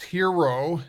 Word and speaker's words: HXRO: tolerance you have so hxr oh it's pronounced hero as a binary options